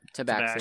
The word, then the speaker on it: tabaxi: We have a tabaxi, I don't know how to pronounce that. Yeah, tabaxi.